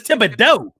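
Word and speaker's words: Thibodeaux: I thought I said the name Thibodeau wrong until I found out how to say the X part, because it's Cajun, and I messed that all up.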